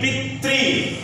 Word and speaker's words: पितृ: रहे हैं तो ई, जबकि अगर सही पूछा जाए तो यहाँ पर री का उच्चारण आ रहा है, क्या आ रहा है, री, पितृ। यहाँ पर री है, मान